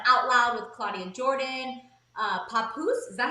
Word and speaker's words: Papoose: Papoose, is that how you pronounce it? Yes, Papoose girl is pregnant with the couple's second child.